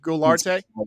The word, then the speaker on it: Guilarte: Guilarte? It's Guilarte.